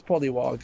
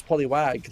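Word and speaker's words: Polliwog: Wait, is that how it's pronounced? I thought it was Poly. Oh yeah, it is Polywog. I thought it was Poliwag, like the Pokemon.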